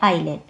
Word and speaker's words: आइलैंड: अब इसकी जो स्पेलिंग होती है एस भी होता है, लेकिन ये क्या होता है हम इसे पढ़ते नहीं है, इसको पढ़ते हैं आइलैंड।